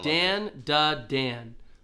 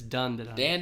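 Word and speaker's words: Dandadan: dadan yeah yeah yeah so it looks like Dan D Dan but it's D Dand that's how it's pronounced so um this happens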